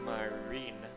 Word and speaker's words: Marine: I don't really know myself, but she's the one I left Marin with. Marin. Actually, it's Marine.